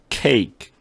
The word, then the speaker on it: cake: 근데 이 케이크 할 때 끄트머리 K 소리 이건 B하고 D처럼 stop 소리를 내죠. 그죠? voice K 소리. 그러니까 cake 아주 간단하게 이 손바닥을 놓고 했을 때 바람 소리가 나오지 않게 cake 이렇게 소리를 내요.